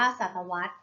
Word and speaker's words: ศตวรรษ: ค่ะ คำ ว่า จักรวัติ ค่ะ ศตวรรษ อ่าน ว่า ศตวรรษ ศตวรรษ ประกอบ อา สอ สา ลา ตะ วอ